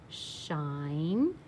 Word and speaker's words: shine: read them with me shine remember our e is silent it's this there to